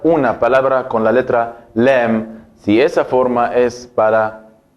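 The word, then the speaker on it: لام: ¿Cómo se escribe la letra lam? Como la alif y la kaf. Lam. Lam. Lam. Esa es la letra lam, como la L en español.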